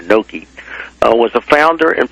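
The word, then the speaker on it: Knoke: I indicate that William I guess you pronounced it no k n o k e or noi uh was a founder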